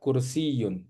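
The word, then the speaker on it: كرسيّ: Jadi di sini tuh selain ya, ya itu sebenarnya ada tasdidnya. Jadi yanya-nya itu harus ee ditasdid. Jadi dobel ya sebenarnya. Kalau tasdid itu artinya dobble huruf itu diobel gitu ya.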